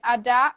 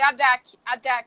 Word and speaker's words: Adac: A escrita dela é A-D-A-C. A-D-A-C. ADAC. A-D-A-C. Adá. Se você não fala a Mas pronúncia, eu nunca ia saber, eu nem ia o arriscar a C, pronúncia. o C não, não se, a gente não, por exemplo, tem gente que lê Adak, não é Adak, é Adá.